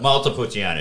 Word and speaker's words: Montepulciano: Montepulciano, yeah, that's right.